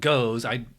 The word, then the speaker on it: Gose: This is called, well, it's spelled Gose.